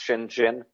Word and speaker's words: Shenzhen: What Deng Xiaoping in China did, he went to a fishing village in 1980 it's spelled Shenzhen, it's pronounced Shenzhen.